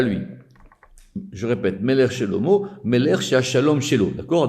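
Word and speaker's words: שלמה: Donc vous avez compris comment on fait le jeu de mots, parce que Shelomo, ça s'écrit avec un He à la fin, mais on prononce O.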